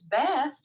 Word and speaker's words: Bast: right so with miss bass here they put in here rhymes with max fast makes sense uh the